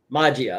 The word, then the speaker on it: Magia: How do you pronounce that? Magia.